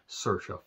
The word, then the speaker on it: Saoirse: But when you have this kind of cast, especially, again, Sam Rockwell and Saoirse fucking Ronan, I can't tell you how long it took me to realize that's how you say her name.